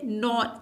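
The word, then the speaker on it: know: silent है जिसी तरह जिस तरह से नॉ के एन ओ डब्लू एन नॉन लेकिन के नहीं पढ़ा जाता नॉन पढ़ा जाता है इस तरह से नाइफ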